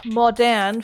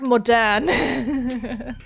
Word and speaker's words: Moderne: And then there's French Centre d'Art Moderne. Moderne? Moderne in the French. Moderne? You barely pronounce the E's in French unless there's something in front of it.